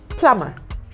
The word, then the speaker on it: plumber: is silent you have plumber p-l-u-m-b-e-r the letter B in that word I've never silent I have never understood why the B must be silent in in plumber and